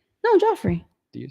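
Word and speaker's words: Geoffrey: Joffrey. Am I saying it wrong? Joffrey. So it was the Geoff, the giraffe? Yes. I think it's just Jeff. No, Joffrey.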